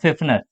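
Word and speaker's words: Pfiffner: Next समझो, फिफनर, ठीक है, नाम ध्यान रखना, ठीक है, प्रोनाउंसिएशन क्या है इनका, फिफनर, ठीक है, पी से स्टार्ट है, फिफनर, पी साइलेंट है यहाँ पे।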